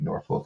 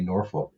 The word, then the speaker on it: Norfolk: to the Hampton Roads area, which has like Norfolk and all that, right?